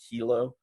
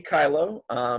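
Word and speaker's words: Kyllo: I've heard him pronounce that in interviews he's done, but in this video they pronounce it Kilo. But Danny Kylo was a gentleman in Oregon, as you can see right here.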